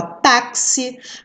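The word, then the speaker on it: táxi: né são dizer o x pode ter som de ks aqui acho que não tem nenhuma não mas a gente pode dar o exemplo a taxi crucifixo né som de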